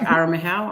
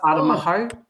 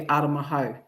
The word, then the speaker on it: Aramahau: game, he said, actually, I've just been told that his name is to be pronounced Aramaho. Oh, Yeah. nice. Yeah. Oh, that's yeah. cool. So he actually, and he said it live too when he was calling it. He was like, it's actually Aramaho, Nice.